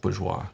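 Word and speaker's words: bezoar: I thought it was a bezor. Bezor actually comes from a French word and it's it would be pronounced bajoa.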